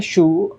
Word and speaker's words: choux: शू को प्रोनाउंस करते हैं शू, लेकिन उसकी स्पेलिंग होती है CHOUX, राइट।